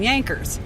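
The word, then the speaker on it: Jankers: so they called them yankers which is spelled j-a-n-k-e-r-s and but pronounced j is pronounced as a y and so that's where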